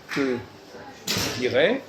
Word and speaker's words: je te dirai: Par exemple, je dis je te dirai. Oui. Tu ne prononces pas le E.